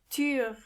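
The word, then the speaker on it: Tür: even closer to each other e try to pronounce those words with me tu tu means door m m means trash and finally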